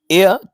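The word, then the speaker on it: heir: को रीड कीजिए और इसको एयर ऐसे पढ़ा जाता है तो यह जो वर्ड है इसका मतलब होता है उत्तराधिकारी एच इसमें साइलेंट है वाउल साउंड दे रहा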